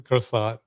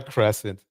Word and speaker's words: croissant: it's a crescent it is just a croissant it's not a crescent not a crescent ring you know damn the little symbols on there that that may indicate that it has a different pronunciation so yes I am